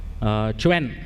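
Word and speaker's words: Qwen: For today's demo, I'm going to show you Quen. Apparently, it is pronounced Quen, but I prefer saying Quen.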